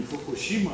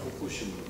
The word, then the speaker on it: Фукусима: Не Фукусима, а Фукусима они произносят.